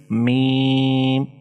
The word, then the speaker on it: م: The third is mim. Mim is pronounced by touching the outer parts of the 2 lips. Mim, mim. So it is made from 3 letters, so it should be prolonged to 3 to 5 seconds and should be pronounced lightly.